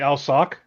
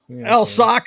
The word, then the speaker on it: Alcock: does I don't know it turns out we've been saying it wrong all the time it's it's actually Al sock Al sock right yeah this is just